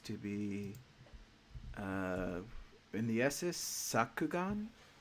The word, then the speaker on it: Sakugan: be in the SS Sakugan. Did I say that correctly? Because I pronounce stuff really bad. Yeah, it's Sakugan.